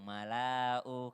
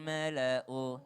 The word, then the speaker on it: الملأ: Seakan-akan tulisannya panjang, mala'u. Kadang ada yang salah baca, dibaca panjang. Karena dianggapnya itu adalah alif buat panjang. Padahal itu adalah hamzah. Berarti bacanya waqalal mala'u.